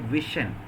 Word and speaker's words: vision: take two more examples in the word vision v-i-s-i-o-n the letter s represents a sound Vision that means the letter s pronounced as sure sound it is a voiceless